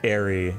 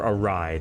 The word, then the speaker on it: awry: Like, things are gonna go quite airy here. Or awry. No, that's how you pronounce the word.